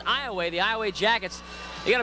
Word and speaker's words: Iowa: And again, this Iowa team, it's pronounced Iowa. It's spelled Iowa, but it's pronounced Iowa.